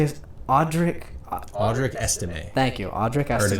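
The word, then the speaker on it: Estimé: How do you say his Audric Estime.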